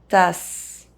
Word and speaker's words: tasse: E as the last letter of a word is silent in French. Armoire, tasse, imprimante.